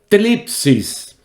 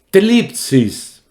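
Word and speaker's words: θλῖψις: La palabra griega que se traduce tribulación es una palabra que tiene una pronunciación un poquito rara en griego. Tlipsis. Tlipsis.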